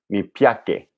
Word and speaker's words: piace: Okay, so all C's sound like CH. So they're all affricates. So mi piace. So it's mi piace.